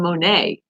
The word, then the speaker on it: Monet: here about Claude Monet I mean Monet because remember the t is silent see I'm a little